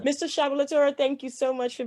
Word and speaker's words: Sablatura: And it's actually supposed to be pronounced as Sablatura, but Sablatura, Sablatura. I'm very happy with that. All Okay. right. Mr. Shabalatura, thank you so much for being on the show.